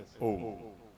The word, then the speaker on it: ओम: ऐसे ओम। ओम का उच्चारण होता है। और ओम कौन है? अ उ म ब्रह्मा विष्णु महेश जो